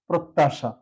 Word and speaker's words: প্রত্যাশা: প্রত। প্রত দুটো তয়ের জন্য তো এখানে প্রত, এখানে থেমে গেলাম প্রত তা সা তালবস্য হবে প্রত্যাশা। এভাবে উচ্চারণ করতে পারি।